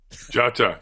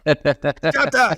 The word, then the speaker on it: Dia: Jata. Jata, yes. Yeah, it starts with a D, right? But that kind of sounds like a G.